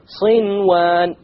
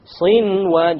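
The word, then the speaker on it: صنوان: There's a noon sakin followed by a waw. Sinwan. Sinwan. You pronounce the noon.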